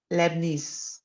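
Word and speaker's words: Leibniz: लेबनीज, ये वो वाला लेबनान नहीं, इसमें टी और जेड भी आता है। लेबनीज, टी जेड करके साइलेंट हो जाता है, मतलब प्रोनाउंसिएशन तो वही नव्या जो आप लिख रहे हैं उसकी जो आएगी, लेकिन स्पेलिंग अलग है।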